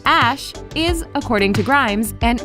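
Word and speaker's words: Æ: The AE, which is pronounced Ash, is, according to Grimes,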